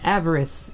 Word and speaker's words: avarice: Sanity and avarice. Did I say that right? Mm-hmm. Avarice. You said it right the first time.